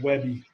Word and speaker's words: WebP: Or it's spelled WebP, but they pronounce it Webby.